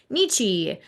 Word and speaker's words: Nietzsche: Today we are diving into Nietzsche, otherwise known as Nietzsche in the German pronunciation, and we are attempting to answer the age-old question, are we born innocent or guilty?